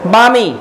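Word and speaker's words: balmy: अगला वर्ड लिखो बामी, एल साइलेंट है, ये बना है बाम से, तो ये जो बामी है, बामी का मतलब होता है सूदिंग, आरामदायक।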